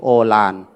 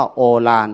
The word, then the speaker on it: โอฬาร: หมาย ถึง โอฬาร บ้าน เรา เรียก ว่า โอฬาร แต่ ภาษา บาลี นั้น บอก ว่า อุ ลา ลา ก็ แปลง อุ เป็น โอ คุณ ยม เวียน สนุก ขึ้น มา เป็น โอ ทาง บ้าน เรา ก็ อ่าน ว่า โอฬาร หรือ โอฬาร ถ้า มี